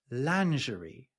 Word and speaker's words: lingerie: And I actually watched a video of a British woman saying, and this is how we pronounce this: lingerie, which is way, way closer to the French pronunciation.